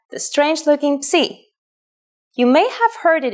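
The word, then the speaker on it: ψ: If you ever forget how to pronounce this letter, just remember, Psee is for Poseidon and his trident.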